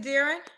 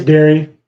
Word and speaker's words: Darian: Is it Darren? It's Darian. Say it again.